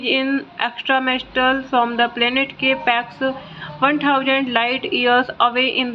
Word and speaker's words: K-PAX: After claiming he is in extraterrestrial from the planet K-Pax 1000 light years away in the Lyra constellation, thought not capitalized and pronounced with a long O rhyming with bot, is committed to the Psychiatric Institute of Manhattan.